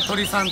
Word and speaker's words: 鶏さん: 、鳥さん、これで鳥さんと読むそうで、よ